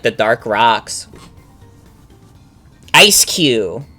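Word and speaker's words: Eiscue: Ice Q. That's how you say its name.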